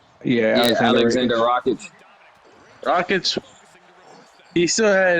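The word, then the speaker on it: Rakić: Rockets. Yeah, Yeah, Alexander Alexander Rakic.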